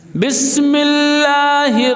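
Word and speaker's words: بسم الله: কেউ যদি বলে না বায়ের নিচে জের না, বায়ের নিচে জবর, তখন উচ্চারণ কি হবে? বাসমাল্লাহির রহমানির রহিম। বাস, জেরকে জবর বানানোর দ্বারা ওই মানুষটা কাফের হয়ে গেছে। অথবা কেউ যদি বলে না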